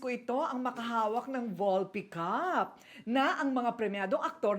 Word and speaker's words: Volpe Cup: John, ano ba ang pronunciation niyan? Volpe Cup.